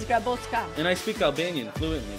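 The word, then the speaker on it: Grabocka: Well, a lot of people call me Grabotska, but he did pronounce it well because my last name is Grabotska.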